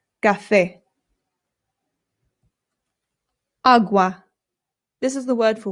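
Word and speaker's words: agua: It's awa.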